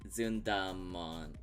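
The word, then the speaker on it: Zundamon: zon's name oh yeah zund yeah it's Z technically but most English uh speakers say mon like at the end of Pokemon because that's also supposed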